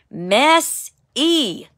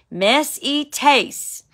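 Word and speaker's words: μεσίτης: The pronunciation is spelled M-E-S-I-T-E-S in Greek, but it's pronounced mess-e. When you're messy, guess what? You got a mediator for your mess. Mess-e-tes.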